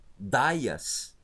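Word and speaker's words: Ἰουδαίας: Agora aqui, ó, iodaias, vejam que ele está em maiúsculo, o iota. Então não tem como eu colocar em cima, eu vou colocar na frente. Iodaias, não interfere em nada.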